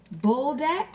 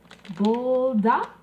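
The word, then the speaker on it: Buldak: are the noodles and i believe it's pronounced bulldog it's b-u-l-d-a-k if i'm pronouncing it wrong you can correct me down in the comments bulldog bulldog but these are hot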